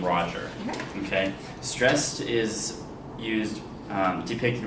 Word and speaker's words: Roger: So the name is Roger, it's not Roger. So, and you can hear that naturally in the name. So if you have a stressed syllable followed by an unstressed syllable, what is that? Trochaic. Trochaic, right? Right here. So the example was piping down the valleys wild. Piping down the valleys wild. So Roger is trochaic.